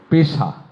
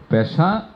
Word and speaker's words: পেশা: পেশা এইটা কোনভাবে পেশা নয়। পেশা নয়।